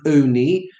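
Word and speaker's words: עֹנִי: We pronounce it oni because we want it to allude to the fact that we answer, we recite so many things with this matzah.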